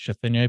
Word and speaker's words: Chisholm: as Scott Chisholm, but it's actually pronounced Chisholm, but I Anglicize it for people.